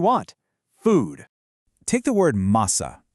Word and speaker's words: massa: Take the word massa. It's pronounced ma-sa, with a nice heavy stress right on that first syllable.